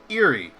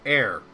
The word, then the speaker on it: Ere: And for the longest time, I always pronounced it as Eerie. Or Eerie. Yeah. And I wasn't sure. And then somebody told me, oh, I think it's supposed to be pronounced air. Like air.